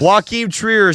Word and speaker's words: Joachim Trier: Joaquin Trier, Sentimental Value, and Ryan Coogler of Sinners. Yes, and great job pronouncing Joachim Trier's name.